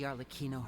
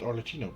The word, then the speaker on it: Arlecchino: All of us house members here, Lady Arlecchino herself included, are from Fontaine. We won't give up on defending our homeland. No, also, I always pronounce it Arlecchino, but it's Arlecchino.